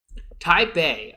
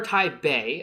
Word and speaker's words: Taipei: So Taipei uh or or or Taipei. I don't know uh where like the the P came from. It's in in Chinese you would pronounce it with a B.